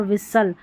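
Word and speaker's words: whistle: कासल और विसल यानी सल शल भी नहीं होगा। सल करके उच्चारण होगा। और टी यहां पर क्या है? साइलेंट है। कास्टल होता नहीं तो विस्टल होता तो टी साइलेंट है।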